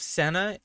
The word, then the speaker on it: Senna: and then we have i believe senna i don't think it's cena i could be wrong but i'm pretty sure it's pronounced senna this soldier is an ally